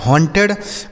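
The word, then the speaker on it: haunted: एच से हो जाएगा ह। ए यू का उच्चारण अ एन से न। टी ई से हो जाएगा टे और डी से ड लिखा आपका ह्टेड।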